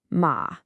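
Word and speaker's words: 馬: It's that character on the right side of both of them, ma. Now, all by itself, that character is pronounced ma, and it means horse.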